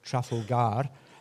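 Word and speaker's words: Trafalgar: Think how many places be these settlements, ins or plantations called trfalar or trfolgar as many were formerly pronounced reflecting the original stress pattern. A Trafalga name can commemorate a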